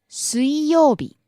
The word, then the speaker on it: 水曜日: 火曜日 Next, 水曜日 Wednesday. 水曜日水曜日 Rising on the second syllable, falling on the second to last syllable.